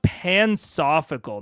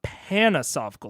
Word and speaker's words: pansophical: It's pronounced pansophical, not panasophical, like pansexual. Oh, pansophical.